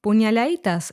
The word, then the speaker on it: puñaladitas: As in demasiado, the letter D in puñaladitas was omitted, so it's pronounced puñaladitas instead.